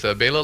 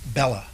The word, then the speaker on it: Bela: Well, it's commonly mispronounced, Bella. Yeah, well, up to today, that's what I was pronouncing. So, people think, oh, he must be Italian, but not so. Dad was Hungarian, and that's a common Hungarian name.